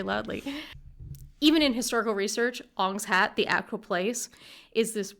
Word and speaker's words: Ong's Hat: New Jersey there is a real place called On's hat On's hat yes spelled om n pronounced like M like shamalan uh [ __